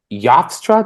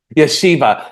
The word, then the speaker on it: Yeshiva: That's impressive because I remember, I think you literally just finished your time at Yofstra. Did I pronounce that right? Yeshiva. Yeshiva. You finished up your time